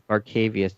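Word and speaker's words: Barkevious: It's Barkevius. You need 2 E's there to be Barkevius, by the way.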